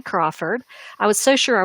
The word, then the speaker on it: Crawford: And Crawford, like Cindy Crawford.